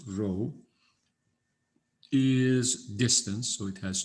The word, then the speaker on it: rho: rho that's what this uh greek letter is pronounced rho is distance so it has to be positive